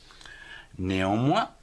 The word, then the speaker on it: néanmoins: On ne prononce toujours pas le S dans tous ces mots.